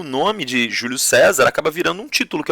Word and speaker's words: Caesar: Vem do latim do termo Caesar, ou em latim, a pronúncia correta em latim, César.